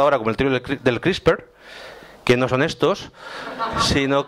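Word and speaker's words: CRISPR: nombre es mejor el Cómo se dice la la viatura que es crisper que suena muy bien crisper vale Y Uy esto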